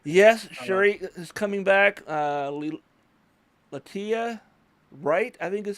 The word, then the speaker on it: Letitia Wright: Latia Wright, I think is how you pronounce her name. Letitia Wright.